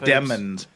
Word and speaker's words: Demons: I took some time to kill some demons in Diablo, so I had a hell of a day. So His name is pronounced Demons, not Demons. It's Jamel Demon.